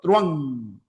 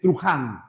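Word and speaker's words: truhán: No decimos truan, sino truan. Ojo, se pronuncia truan. Hay muchos alumnos que yo he escuchado acá en presencial que dicen trujan. No, la H no es una J, pues no es truan.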